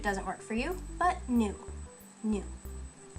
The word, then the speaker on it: ぬ: You don't have to use it if it doesn't work for you, but nu. Nu. Nu sounds like noodle.